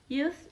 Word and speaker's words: youth: the first is youth youth is figurative sound using your tongue and your teeth your tongue is between your teeth youth youth your lips is rounded and your jaw is